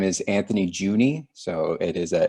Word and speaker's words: Juehne: my name is anthony juni so it is a it's a tricky pronunciation juni uh and i'm the